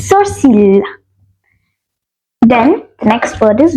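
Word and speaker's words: sourcils: s o u r c i l s soril then the next word is nose which is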